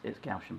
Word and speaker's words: Gaussian: Yeah, with my CD cover, I put a Gaussian blur. Yeah. Gaussian blur on top of it because I've heard it pronounced all sorts of different ways. I've heard it pronounced Gaussian, Gaussian. Yeah, it's Gaussian blur, Gaussian.